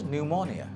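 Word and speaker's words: pneumonia: Like নিউমোনিয়া, নিউমোনিয়া শব্দটা বলতে গেলে পি এন দিয়ে শুরু হয়, কিন্তু এটার উচ্চারণটা হচ্ছে নিউমোনিয়া। নিউমোনিয়ার ক্ষেত্রে সাইলেন্ট পি ইজ দেয়ার।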